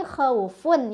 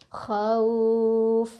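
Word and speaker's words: خوف: Kan tadi khaufun ya kalau disambung. Kalau berhenti jadi khauf, jadi panjang. Selain dilunakkan dipanjangkan juga khauf gitu. Jadi bacaan yang salah misal khauf berhenti tapi pendek.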